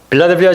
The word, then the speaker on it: 필라델피아: 필라델피아 지역은 지극히 평범한 도시였어요. 농업과 이 제조업이 주 산업이었는데 우리가 5번째로 보았던 사대교회가 있었어요. 그 교회로부터 남동쪽, 동남쪽 40km 떨어진 곳에 있는 이곳 이 필라델피아는 주후 17년에 이 사대 지역에 큰 지진이 있었습니다.